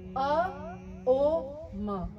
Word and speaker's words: ओम: ओम का उच्चारण 3 हिस्सों में, अ, ओ, म। इसका बहुत ही इंपॉर्टेंस है। अगर हम इन तीनों अल्फाबेट्स को इक्वली डिवाइड करके बोलते हैं, ये बहुत जरूरी है।